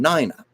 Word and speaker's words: Nina: 40s Gasoline Alley and they pronounced her name Nina and if you see the strip strip her name is spelled n i n a and my parents had